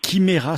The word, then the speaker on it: Chimera: vous recommande la page kymera sanctuary alors là on le prononce al anglaise mais au début de l'interview gelé prononcer à la française ça s'écrit chimay rats ch ime ra sanctuary comme un sanctuaire